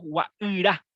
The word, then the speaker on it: Guairá: Y acá nosotros decimos Guairá, o sea, le pronunciamos la Y.